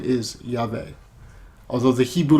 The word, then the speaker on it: Yahweh: yo-dee-hey valve a which is Yavin the basic pronunciation of the name is Yahweh although the Hebrew letter valve can also be